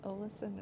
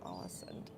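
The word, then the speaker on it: Ålesund: pronounce it somewhere between an O and an A. I just don't know their language well enough to do it. Yeah, Olesund and Alesund, kind of in the middle.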